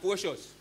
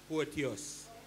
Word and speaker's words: Porteous: It is not Porcious. Me no name Porcious. My name is Porteous.